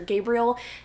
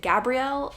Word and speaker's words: Gabriel: It's about our main character, Gabriel, even though the narrator pronounced it Gabrielle, which I feel like is the feminized version of the name Gabriel.